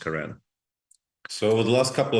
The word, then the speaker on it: Karen: point out that it is Karen and not Karen. It's been a bit of a struggle for me over the past couple of days, and just to lay a marker there that name is pronounced Karen.